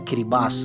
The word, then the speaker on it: Kiribati: Waduh, S jadi T pemisa seperti kiribati ya dibacanya kiribas.